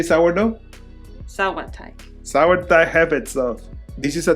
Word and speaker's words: Sauerteig: Sauerteig.